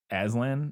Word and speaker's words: Aslan: It's Aslan, by the way. Aslan? Yeah. What did I say? I don't remember now, but you were saying it wrong. Aslan, probably. Yeah, Aslan. So emphasis on the second syllable.